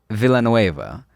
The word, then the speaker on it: Villanueva: to make sure I pronounce her last name right because I've been saying Villanueva. It's not Villanueva. Really? Yeah, I thought you pronounced it wrong right now. Yeah. Nah, it's Villanueva. She's like, excuse me, I'm white. She said, "You say the L's.